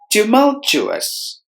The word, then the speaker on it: tumultuous: syllables tiger tumultuous tumultuous there are four syllables in this word we have distressed the second syllable must be heard with more volume to Mo to us tumultuous quiet quiet Nations there